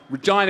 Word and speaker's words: Regina: Regina, it rhymes with fun.